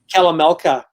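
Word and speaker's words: Kalamalka: was just the one that's great love lake kalamata did i pronounce that right calamelca it's um it's in vernon right it's in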